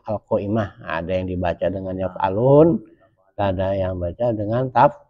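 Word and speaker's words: يفعلوا: Kalau yaf'alun itu wama yaf'alu bukan yaf'alun ya.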